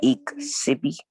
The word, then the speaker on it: iksipi: Iksipi. Is that how you pronounce it? Upon iksipi, I makes the E sound in Yoroni.